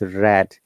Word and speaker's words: read: the past participle uh it sounds like same as the color red when you use the past stance or pass from the verb read it becomes red and we got to